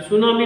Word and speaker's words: सुनामी: देखिए, इसकी जो इंग्लिश प्रोनाउंसिएशन है वो सुनामी है, लेकिन इसमें टी साइलेंट रहता है। टी लेटर जो है साइलेंट रहता है और इसमें इसको सुनामी ही पढ़ते हैं।